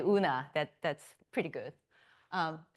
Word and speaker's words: Eun-Ah: In case you are wondering how to say my name, ignore E, then it becomes easier. Just say Eun-Ah, that's pretty good.